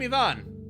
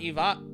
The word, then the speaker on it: Ivan: I'm Ivan. The stress is on the eye. It's not Ivan.